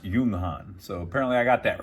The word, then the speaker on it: Junghans: Um, and apparently it is pronounced Yunghan.